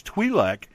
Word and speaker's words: Twi'lek: and years and years, I always pronounced it Twi'lek until Clone Wars came along and we found out it was Twi'lek, until we get to The Mandalorian, where it is pronounced both ways in different times.